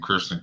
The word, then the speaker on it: Kurston: uh is is it is this my name Kirsten okay so y'all for my listening audience his name is spelled k-u-r-s-t-o-n last name c-a-r-t-e-r so y'all